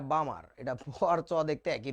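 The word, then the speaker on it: Balmer: ক্লাসে এরকম লেখার পরে একটা স্টুডেন্ট পড়তেছিল সামার এটা সামার না বাবা এটা বামার এটা বোয়ার চাওয়া দেখতে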